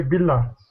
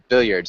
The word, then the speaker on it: billiards: will go to play billiards. Nice. Okay. We actually would not pronounce the L's there, so we'd say our billiards. So we'd say one L. Billiards, kind of like that.